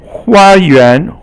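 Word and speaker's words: 花园: Okay, 花园 hua is first tone and yuan is second tone.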